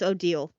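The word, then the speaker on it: Odile: It's Odal.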